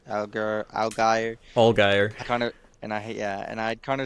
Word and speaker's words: Allgaier: Allgaier. Algier. Allgaier.